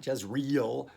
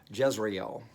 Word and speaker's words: Jezreel: him name him jezreel not just real jezreel jezreel jezreel for in a little while i will punish the house of jehu for the blood of jezreel and i will put